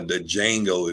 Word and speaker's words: Django: It's kind of like the Django, if you will. I think they said the D is silent, so it.